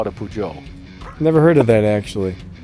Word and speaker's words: Peugeot: got that that's for sure racing who a pujo what's a peugeot joe is a car dude it's like a pigeon but you pronounce it differently so instead of calling a pigeon you call it a pujo never heard of that actually i'm just making